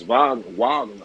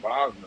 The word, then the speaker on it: Wagner: And they pronounce his name Franz Wagner. I forgot how the hell he said Wagner or something. Franz Wagner.